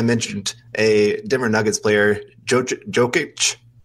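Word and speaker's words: Jokić: And so then I mentioned a Denver Nuggets player, Jokic. I think that's right. Yeah. And I said it wrong. And they're like, who are you talking about? I was like, Josic, the guy from the Nuggets.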